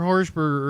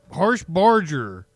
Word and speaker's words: Harshbarger: think I called her harburger earlier I think I got it wrong it's no harburger harsh harsh Barger I